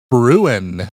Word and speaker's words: bruin: for playing the word Bruin. Not like I'm brewing a cup of coffee, but like a bear. How do you spell that? Bruin. Gotcha. Just like ruin with a B in front of it.